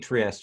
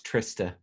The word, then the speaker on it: Trista: Let's I keep saying Trieste. It's Trista.